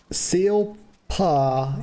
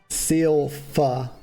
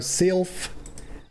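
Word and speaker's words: Sylph: B's like oh sorry seal f is pH is pronounced F so Sil it's so rhymes with mil I can do that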